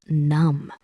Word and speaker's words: numb: And when suppression goes on for too long, a person can start to feel numb. Let us say this short word numb. Note the letter B at the end is silent.